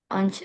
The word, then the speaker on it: once: Once a week, se eh sepekan sekali. Ya, eh artinya betul cara bacanya eh Mister koreksi. Bacanya once. Oh, once.